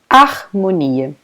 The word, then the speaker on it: harmonia: And pay attention, guys, because here the H in the beginning of this word, a letra H, it's completely not pronounced. So, harmonia. So the sound here, the first sound of this word is A. A. We don't pronounce anything to letter H, okay?